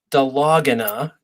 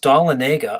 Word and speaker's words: Dahlonega: city in northern Georgia some people say it's pronounced de la gana it's really pronounced dalla Nega oh look at that yeah you know that's